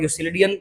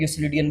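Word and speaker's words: Euclidean: इनमें से ना इनमें फार्मूला लगाओगे आप इस डाटा के ऊपर यूसिलिडियन डिस्टेंस फार्मूला लोग इसको यूक्लिडियन भी पढ़ते हैं यूसिलडियन भी पढ़ते हैं। लेकिन एक्चुअली प्रोनाउंसिएशन जो है वो यूसिलिडियन डिस्टेंस फार्मूला होता है।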